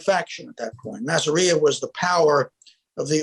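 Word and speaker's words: Masseria: He took up with Is it Massario? Is that how he pronounced his name? Oh, Massaria.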